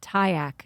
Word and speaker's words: Tyacke: Yes, that's Tyack, and it's spelled Tyacke.